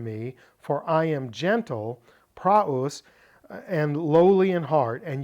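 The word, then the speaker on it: πραΰς: accenting above the opsilon so this is why I said it's it's not PR or PR it's prus because we have the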